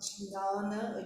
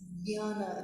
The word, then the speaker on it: jñāna: And Shiva jñāna, and we mentioned again before, even though it's J, it's not jnana, it is jnana, it's pronounced as G-N-Y, jnana.